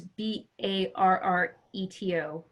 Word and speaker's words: Barreto: For the Portuguese, Fabio Barreto, which is Barreto. Double R is pronounced with a H sound in Portuguese.